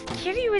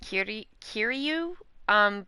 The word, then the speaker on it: Kiryu: I mean, it's also, you might hear it pronounced Kiryu, because like it's Kiryu. Japanese R sound is kind of different to the American English R.